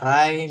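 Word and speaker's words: 来: Nah ini rai dibacanya bisa rai bisa kimas datang kuru ya kan.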